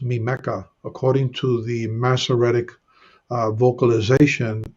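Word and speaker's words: מִמְּךָ: Okay, so it will be pronounced mimeka. According to the Masoretic vocalization, it will be mimeka as opposed to mimecha.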